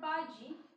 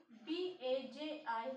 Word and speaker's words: Baji: See next word, Baji. b-a-j-i.